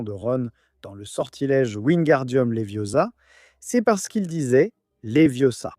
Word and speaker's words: Wingardium Leviosa: Mais en réalité, ce qu'il prononce mal dans le livre, c'est le gare de Wingardium. Alors, Hermion lui dit "Le gare est long et prononcé."